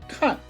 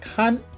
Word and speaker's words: 看: here in the animated image when it is pronounced the fourth tone cut it means to look to see to watch or to visit when it is pronounced the first tone khan it means to monitor or to supervise the